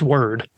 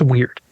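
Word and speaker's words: Wyrd: the web of weird weird is spelled w-y-r-d I don't think it's word huh I think it's weird um yeah it's it's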